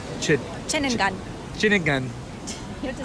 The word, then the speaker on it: Ceningan: Ceningan.